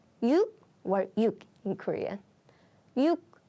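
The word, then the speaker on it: 육: is five is o o o six is yuk yuk or yuk in Korean yuk yuk by the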